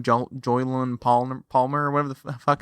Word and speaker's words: Jolyon: Joylan Palmer, or whatever the fuck his name is. I need fucking. Where's Joylan Palmer? What is up with us saying names? Joylan Palmer.